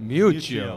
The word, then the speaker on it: Miuccio: Miuccio. Miuccio, okay.